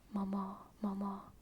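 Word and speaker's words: mamá: family does mama mama mama M the emphasis is on the second one Mama M Mama m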